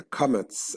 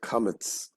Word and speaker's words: kametz: They say both ah, but in the Ashkenazic pronunciation, kametz is o, patach is ah.